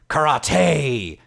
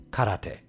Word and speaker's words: karate: went in the complete opposite direction of over pronouncing it as karate with a over emphasis on the Tay don't don't do this either it's simply karate ah cut out this distant cousin where the